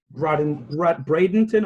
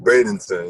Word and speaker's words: Bradenton: So you're from Bradenton or Bradenton, Florida? How do you pronounce it? Bradenton.